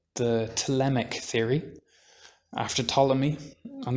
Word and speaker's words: Ptolemy: the telemach theory after ptolemy and that's spelt with a p so it's pt um